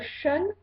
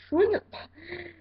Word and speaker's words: Shun: Ils sont très mignons, surtout Sean. Oula, pas Sean, Shun. Je sais pas trop comment ça se prononce, mais en tout cas, c'est pas Sean parce que ça, c'est américain.